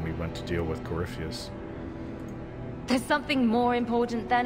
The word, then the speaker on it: Corypheus: corypheus I don't know why it looks like Corpus to me but it's actually pronounced corypheus uncle's old home it's not the first time